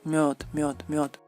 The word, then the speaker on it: мёд: Por ejemplo, en español, la miel, y en ruso es мёд. Es como bird, pero мёд.